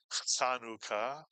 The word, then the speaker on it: Chanukah: Anytime you see a CH in English transliteration of Hebrew, it is pronounced not ch, and therefore this word is not Chanukah, but Chanukah.